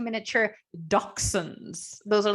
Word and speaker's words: dachshunds: It's not dachshunds, it's dachshunds.